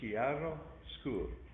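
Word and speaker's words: chiaroscuro: say it again and it's not the ch sound becomes a k in italian so it's chiaro school character so uh italian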